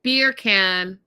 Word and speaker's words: Birkin: And she's she meaning Lisa is looking at Birkin beer can. Beer can. I had to phonetically write it down because to me it looks like Burk and Birkinbag, but uh I was corrected.